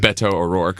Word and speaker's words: Beto O'Rourke: a great show in Austin for awesome time Beto O'Rourke I can say I pronounced it correctly yes Beto and I played